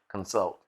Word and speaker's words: consult: Consult. Consultation. Don't leave me alone. Okay, consult. It's okay, baby. That ain't a thing. Consult. Consult. You just said it differently. You put the emphasis on the first syllable.